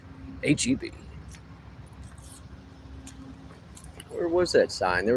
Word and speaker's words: HEB: You have to say the letters, because if you pronounce it, people think you're racist. HEB.